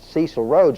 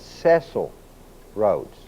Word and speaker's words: Cecil Rhodes: Most people pronounce it Cecil Rhodes, but it's not. It's Cecil Rhodes.